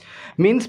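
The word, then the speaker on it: mesne: मींस profit, अक्सर इसको मेसनी profit कहा जाता है। मींस प्रॉफिट क्या होता है, मैं इसने प्रॉफिट में लिख रहा हूँ लेकिन इसकी करेक्ट प्रोनाउंसिएशन जो है वो मींस प्रॉफिट है।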